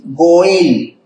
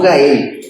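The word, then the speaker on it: go'el: Necesitamos urgentemente muchas veces un goel, no Gael, goel.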